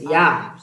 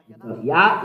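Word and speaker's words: יה: How to read it? Yah. Azi Zimrat Yah. Yah is the way to read it. So if Yah is the way to read it, change it. So if Yah is the way to read it, so the way to read it is Yah.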